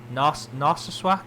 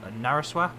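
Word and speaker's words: Narsarsuaq: Narsaswak, not Naraswak.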